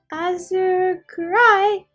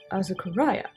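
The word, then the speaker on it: Azukiarai: Here, this charm will keep Azukurai away. I butchered that, I'm sorry. Azukuraya, the yokai that washes Azuki beans?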